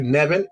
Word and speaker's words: Nevin: my name is like nevin um it's spelled in e v as in victor i n just like kevin but with an n yes ma'am okay and